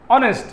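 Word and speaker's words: honest: look at that তো আমরা এখন নিয়ে আসলাম অনেস্ট এটা অচ্চ হনেস্ট উচ্চারণ হয় নাই এজন্য এন চলে আসছে হি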